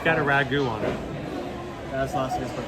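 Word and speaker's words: ragoût: no it's not that it's not because you're dyslexic it's because it's French Ragu Ragu Ragu where's the tea come in why is the T sign the add the French are lazy they don't pronounce half of the stuff they're right right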